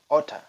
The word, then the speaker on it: ought to: Ungkapan memberi saran yang ke-8 menggunakan ought to atau sering diucapkan oughta.